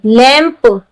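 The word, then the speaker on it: lamb: लैम्ब, यहाँ 'm' है। ' m' के बाद 'b' है। लेकिन हम 'ब' का उच्चारण नहीं कर रहे हैं।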